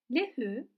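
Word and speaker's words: لَهُ: Li harfi ceri mütekellim y'si hariç diğer zamirlerle birleşirken li şeklinde değil le olarak üstün harekeyle okunuyor. Şimdi bunların nasıl olduğuna bakalım. Lehü onun demek.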